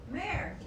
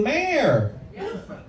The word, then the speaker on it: Mayor: Mayor H. Mayor. One syllable. Mayor.